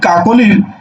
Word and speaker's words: কাকলি: এবার দেখো এই যে অক্ষর বললাম, এখন দেখো তো এটাকে তুমি উচ্চারণ করছো কাকলি, কাকলি, কাকলি বলছে না, বলছে কি?